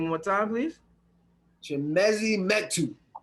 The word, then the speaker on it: Chimezie Metu: Chimezie Metu. Chimezie Metu of the Sacramento Kings.